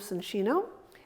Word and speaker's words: Soncino: I noticed that you're pronouncing it Soncino. I know, that's the correct Italian name. And not Soncino. Yeah. Soncino is the Soncino is the Americanized way of doing it.